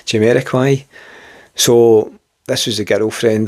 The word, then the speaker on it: Jamiroquai: Is that how you say it? Not Jamiroquai. Jamiroquai.